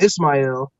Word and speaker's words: Ismail: Hebrew pronunciation ishmail uh he took the Arabic pronunciation Ismael and that was the name that he took